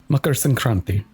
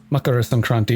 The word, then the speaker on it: Makar Sankranti: Makar Sankranti. Makara Sankranti, if we don't follow the pronunciation habit of parts of northern India and drop the last sound.